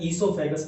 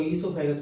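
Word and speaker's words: oesophagus: होता है, buccal cavity, इसको ध्यान से पढ़ना, ईसोफेगस बोलते हैं. क्या, ओ से स्पेलिंग जरूर स्टार्ट होती है, लेकिन वो क्या होता है, साइलेंट होता है. ठीक है, तो ईसोफेगस बोलते हैं.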